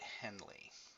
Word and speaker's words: Henle: what it's called and that's how you pronounce it Henley okay and you have